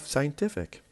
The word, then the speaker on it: scientific: Then we have scientific. The word scientific has 4 different syllables, and the stress is on the third because we have IC.